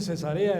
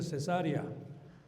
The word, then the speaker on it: Cesarea: Y también se dice cesarea hermanos, no se dice cesárea. Porque algunas veces hemos cuando hemos leído, leímos leemos como cesárea porque estamos acostumbrados a esa palabra.